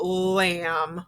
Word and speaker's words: lamb: i'm taking a look i see an m so i know it's going to be silent so lamb lamb okay see here's the